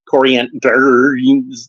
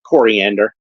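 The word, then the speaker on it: Koriand'r: file real name coriander it's spelled with an apostrophe but you don't you don't say corander like just coriander that's fine uh as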